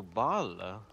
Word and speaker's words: Baal: Oh, they pronounce it Boal, but they're referring to Baal.